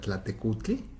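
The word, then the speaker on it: Tlaltecuhtli: La más reciente, la Tlaltecutli, ¿sí lo pronuncié bien? Porque luego los nombres son medio difíciles. Sí, claro.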